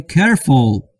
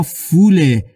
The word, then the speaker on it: careful: Careful و نه careful که شنیده میشه خیلی ها به اشتباه تلفظ میکنن. Careful یا میگن استاد ما فوله. Fool یعنی احمق. Full, full. پسوندی که در اینجا استفاده میشه full.